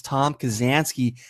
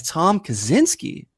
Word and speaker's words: Kazansky: to multiple choice however christian mispronounce Tom Kazansky as Tom Kaczynski three times Trek should have challenged this since Christian mispronounced the answers name like he was the Unabomber 's brother nobody's gonna think of